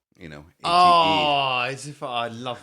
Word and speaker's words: ATE: But I mean, it's spelt 8 as in the past tense of eating, ATE.